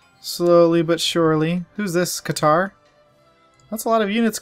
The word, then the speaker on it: Qatar: I think it's actually pronounced Qatar, but I think Qatar sounds cooler, just personally.